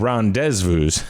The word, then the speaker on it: rendezvous: vu fiance and rendezvous of course pronounced properly that would be deja vu and ron dezvous so i took french